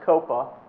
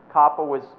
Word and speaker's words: COPPA: It's not pronounced COPA. It's COPPA, the Children's Online Privacy